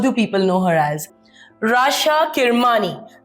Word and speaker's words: Rasha Kirmani: Rasha Kirmani. I hope I pronounced that right this time, babe. You did.